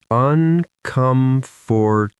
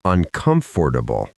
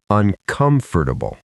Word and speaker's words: uncomfortable: uncomfortable The stress goes on the second syllable. uncomfortable, not uncomfortable. The middle part, four, is almost swallowed. Say it with us. uncomfortable Good.